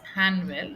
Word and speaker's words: Hanwell: The notetaker over here corrects this man and he tells it's Hanwell not Anill. He's correcting the pronunciation.